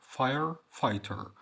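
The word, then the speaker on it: fighter: فاير فايتر فاير فايتر لما تلاقي جي اتش جايه بعد الاي او قبل ال تي او بين الاي والتي زي دي مش هنتقاها خالص طب ما تنطقتش طبعا دي بعدها حرف متحرك اللي هو الاي هتنطق اي زي ما هي برضو فايتر اف اي ار اي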